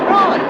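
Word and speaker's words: Froy: Roy, it rhymes with joy.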